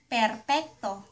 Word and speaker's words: perpekto: per pek to Perpekto. Mga halimbawa, or examples, Hindi ako perpekto.